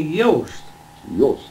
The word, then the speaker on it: Jost: my dad and in in in my language in Hungarian or the German language it would be that the J is a is a a y yes now you see